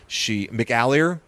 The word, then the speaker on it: McAleer: McAleer? That's how you say it, I think.